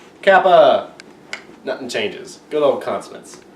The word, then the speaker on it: Kappa: Then we have the lovely letter, and it looks exactly like K because it is the letter K, and it's pronounced Kappa.